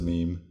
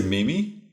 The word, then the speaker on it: meme: Have you ever heard people pronounce meme a different way, like read it the way that it's spelt? What? I always read it as meme. Well, would they say mimi?